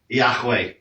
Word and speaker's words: Yahweh: This is never a W, by the way. No W in the Hebrew language, just because some people can't pronounce it. How do you even say that? Yahweh.